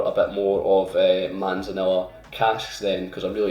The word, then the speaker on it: manzanilla: viscous mouthfeel is springbank manzanilla manzanilla that's how you say it four-year-old uh 57.9 that's